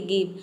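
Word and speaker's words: give: जैसे कि गिव। अब देखिए गिव में आप देख सकते हैं कि जी के बाद आई आया है। लेकिन यहां पे जी को हम क्या प्रोनाउंस कर रहे हैं?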